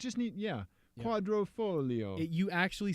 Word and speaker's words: Quadrifoglio: how to follow yep we watched youtube videos about how to pronounce it well and and we've discovered also the key is to do the stereotypical uh-huh like pretend you're about to say that's a spicy meat-a-ball right do that thing with your fingers you've